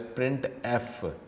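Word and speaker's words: printf: यूज to display output it is pronounce as प्रिंट एफ syntax क्या है प्रिंट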